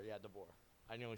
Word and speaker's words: DeBoer: I feel like the Alabama head coach, I don't want to say his name wrong. What is it? DeBoer. Yeah, DeBoer.